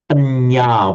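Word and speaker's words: paññā: Now, we all know the word panya with a long a, meaning wisdom.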